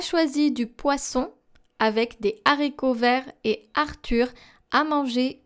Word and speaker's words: haricots: Now the H of haricots verts is le H aspiré. Therefore, we do not pronounce the liaison between des and haricots verts. We don't say des haricots, we say des haricots.